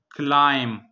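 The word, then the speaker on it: climb: पहला है क्लाइम, क्लाइम. याद रखें एक वर्ड के आखिर में जब बी आता है और बी से पहले एम हो, जिस तरह क्लाइम में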